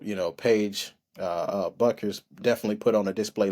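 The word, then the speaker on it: Bueckers: night um uh paig buers uh uh you know I keep saying the name wrong Paige buckers um put up 22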